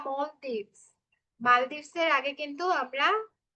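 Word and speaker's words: Maldives: ছোটবেলায় এটার প্রোনাউন্সিয়েশন দেখতাম যে everyone is প্রোনাউন্সিয়েটিং ইট অ্যাজ মালদ্বীপস, বাট এখন দেখি everyone is saying মলদ্বীপস। I don't know why the pronunciation changed. I guess আমরা একটা ইন্ডিয়ান ভার্সন উচ্চারণ করতাম মালদ্বীপ, বাট এটার কারেক্ট প্রোনাউন্সিয়েশন মেবি মলদ্বীপসই হবে।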